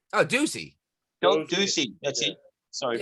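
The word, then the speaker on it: Doocy: No, He's owning Josie. Oh, Ducey. Ducey, that's Yeah. it. Sorry, Yeah, sorry about Peter Ducey, pronunciation.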